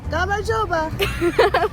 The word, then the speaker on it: გამარჯობა: Gamarjoba.